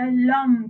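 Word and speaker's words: l'homme: එතකොට l එකත් එක්ක එනකොට ඔයගොල්ලන් කියන එක lum කියලා. h එක pronounce කරන්නේ නැහැ. You don't pronounce the h there.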